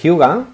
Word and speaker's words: Hygge: Uno de ellos es Hyuga, recordar, se escribe Hygge, La receta de la felicidad, cómo disfrutar más con lo que ya tenemos, de Marie Turell Sodenberg.